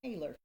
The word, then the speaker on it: Hayler: Haylor.